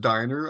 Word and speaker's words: Dynner: Actually, it's pronounced diner. I know it doesn't make any sense phonetically just wanted to put that out there.